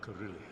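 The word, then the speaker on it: Carhillion: So, we can go and talk to Carhillian. Carillian. I think that's how you pronounce his name. I am Curillion.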